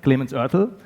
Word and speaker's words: Clemens Oertel: So without further ado, my name is Clemens Ortel, or for the ones who know German pronunciation, Clemens Oertel.